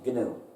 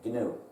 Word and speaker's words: GNU: dictionary because if you say let's run the new system well you're mistaken we've been working on